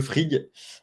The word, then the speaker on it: Frigg: Du coup, comment on le prononce? Le frig.